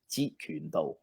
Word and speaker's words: Jeet Kune Do: Jeet is the lowest tone. Jeet Kune Do. That's actually all on the lower level. There's no high tones. Jeet Kune Do.